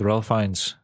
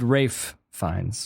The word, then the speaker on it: Ralph Fiennes: And yeah, he was an adventure with Ralph Fiennes of getting. And he was also. Oh yeah, man. He goes to jail. You pronounce it Rafe Fiennes.